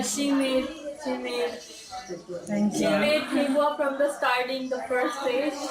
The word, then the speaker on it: Thekua: Thekua. Tekua.